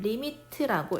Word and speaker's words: lim: 하는 기호 나타낼 겁니다 읽으실 때는 리미트라고 읽어 주시면 돼요 보통 우리가 영어 단어